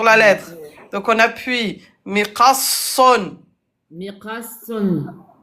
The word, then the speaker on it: مقص: Miqasson. مقص. Et à l'arrêt, comment on va le prononcer? مقص. Voilà. Miqas. On met soukoun.